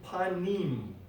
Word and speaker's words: panim: Now, the word we have against, it's panim. That's how we're going to pronounce the word panim.